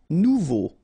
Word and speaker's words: nouveau: Nouveau. Remember, combination of a, and u together, it's o. So you get nouveau. Okay?